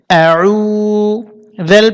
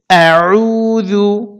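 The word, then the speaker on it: أعوذ: হয়েছে আ উচ্চারণটা হবে আইন পেশ গলার মধ্যে থেকে অর্থাৎ কন্ট্রোলের মাঝখান থেকে আইন কে চাপাতে হবে আর এক আলিফ টানতে হবে আউ জেল পেশু আউদু আবারো বলতেছি আউজু বলা যাবে না আউদু এখানে শুধুমাত্র আইনে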